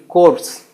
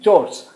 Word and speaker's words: chores: errands did the daily course and were resigned to their fat course it is sorry the pronunciation correct pronunciation chores it is choice tones